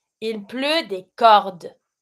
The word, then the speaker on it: cordes: Il pleut des cordes. You stop at the D, don't pronounce the ES.